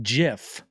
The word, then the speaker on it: GIF: do you pronounce it gif or Jif I think the creator has gone on record to say it is pronounced jiff but I've been calling